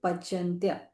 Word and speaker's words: पचन्त्य: And when we see the letter C, we have to pronounce Ch. Okay, Muchyante. Ye Pachantya.